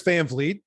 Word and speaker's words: Van Vliet: it but I my my name is Chris Van vet uh I thank you for pronouncing it correctly and I've worked my entire